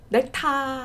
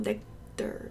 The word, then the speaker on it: nectar: 넥타 아니에요, nectar.